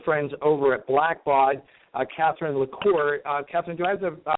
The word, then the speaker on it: LaCour: And one of our good friends over at Blackbaud, Catherine LaCour. Catherine, do I have the pronunciation of your last name correct?